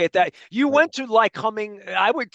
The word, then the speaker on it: Lycoming: I would say Lycoming. I'm pronouncing it wrong, Well, I right? tell people that, and people do, but I tell them if you take the ly off, the word coming is coming.